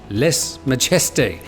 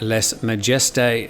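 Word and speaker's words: lèse-majesté: davies says please tim les majeste is pronounced les mageste you offend the french every time apart from that i love your news well liz yes we sometimes struggle with less majesty uh here's how google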